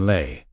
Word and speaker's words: Lay: But then came Ken Lelay, pronounced like the potato chip.